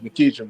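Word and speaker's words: McEachern: Did I say it right, bro? No, it's Mcechearn, but it's all good. How y'all doing? How y'all McKeitcher.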